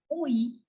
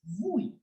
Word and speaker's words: oui: You know, some people pronounce this word yes as oui, and some people also pronounce it as vui.